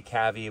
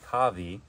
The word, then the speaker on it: cavy: hair or a Patagonian a lot of people say cavy but it's supposed to be cavi c cavie i I'm going